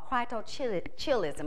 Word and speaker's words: cryptorchidism: And part of that is from a condition called cryptorchidism. I'm going to spell it for you.